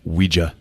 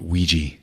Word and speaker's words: Ouija: board what it's pronounced Ouija not Ouija Jesus I thought I wasn't the nerd it comes from the French and German words for yes we and yah Ouija and this and he